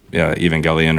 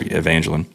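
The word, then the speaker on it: Εὐαγγέλιον: And in fact, he just says the gospel, which would be, Evangelion or Evangelion. Technically, in Greek, this is how they say it.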